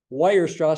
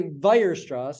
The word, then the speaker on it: Weierstrass: Don't say Weierstrass, say Weierstrass. It's German. W sounds like a V. Cauchy, Weierstrass, Riemann.